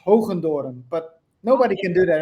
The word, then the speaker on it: Hoogendoorn: pronounce it differently uh in Dutch where I'm from it's it's pronounced hundor but nobody can do